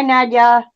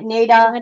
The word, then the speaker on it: Nadia: Hi Nadia. Not Nada.